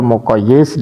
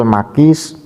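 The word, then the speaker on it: مقيس: sehingga dibaca hukmul muqayyis dan wal muqayyis alaih. Padahal bacanya bukan seperti itu. Yang namanya qiyas musawi ya. Qiyas musawi itu adalah wahwa tasawi hukmil makis wal makis alaih.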